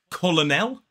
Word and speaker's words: colonel: So it looks like colonel, but the way we pronounce it is Colonel. 2 syllables, the stress falls on the first.